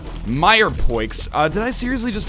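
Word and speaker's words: mirepoix: probably soups made without Mir pla but I just wanted to say mirp I believe it's actually pronounced uh Meer Poes uh did I seriously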